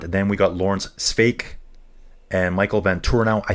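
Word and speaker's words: Sweeck: Sweek pronounced Sveik? How about that? Alan, how about that? Sveik. Kind of like steak, but Sveik.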